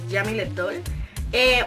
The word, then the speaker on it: Jeamileth Doll: Ella lo pronuncia como raro, pero es Jamile Doll.